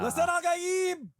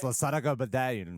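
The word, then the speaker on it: Lisan al-Gaib: Lasanagada babba. That's not how you say it. You sound like a white boy. I am. It's Lasanagada babba.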